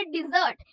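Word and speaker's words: desert: ठीक है, प्रोनाउंसिएशन पे थोड़ा सा ध्यान दो। वो जो हमने छोड़ देना या फिर रेगिस्तान के लिए वर्ड यूज किया था वो है डेजर्ट और ये है डिजर्ट।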